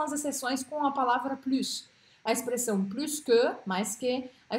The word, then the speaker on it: plus: Pronuncio este S, vou marcá-lo de azul, tá? Quando eu falo com som de S. Elle a plus de livres que moi.